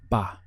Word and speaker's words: va: That is, ba. We have ba-a in the written language, but very frequently you simply hear this contracted to one syllable, ba. It carries quite a strong B sound for the V.